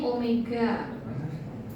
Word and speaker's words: omega: Ini kan ini omega bacanya omega. Jadi bukan W tapi W yang ee apa ya? Bawahnya agak sedikit gendut.